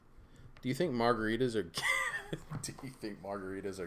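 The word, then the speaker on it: 개: How do you say dog? Gay. That's dog. G-A-E, gay.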